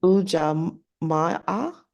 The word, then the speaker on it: ujamaa: ujamaa. Ujamaa. Ujamaa. So you're just holding the A a Mhm. little bit longer.